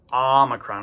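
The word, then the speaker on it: omicron: So that's a a common mistake new Greek students uh encounter is they want to pronounce omocrron like an o sound like a long o uh and it's not pronounced that way. It's the the name is an amocrron and that's what sound it makes a omocrron.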